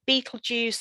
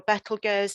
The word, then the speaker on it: Betelgeuse: start off up here with betelgeuse or better girls depending on your pronunciation of it that is actually